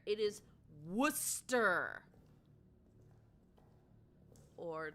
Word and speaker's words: Worcester: Indeed, Worcester trips people up. Yes, and you heard me pronounce that correctly. It is not Wararchchester. There is no H in there. It is Worcester or like some people pronounce things like Haverh Hill.